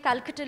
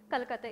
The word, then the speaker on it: Kolkata: Welcome to the 10th edition of the Apeejay Kolkata Literary Festival.